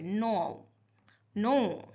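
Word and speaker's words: know: तो आप लोग ज्यादातर लोग क्नो कनो। क का नहीं साउंड आएगा यहां पे। नो। नो। तो यहां पे के साइलेंट है।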